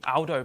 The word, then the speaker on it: Aldo: McGovern and somebody Chef Aldo zilli got it right this time he picked me up but it's Aldo not old Aldo's a very British pronunciation in Italian uh good to see